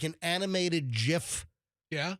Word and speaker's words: GIF: GIF like an animated gif you know mg I think by the way it is pronounced GIF not GIF it is officially it's like peanut butter like the peanut butter so if you want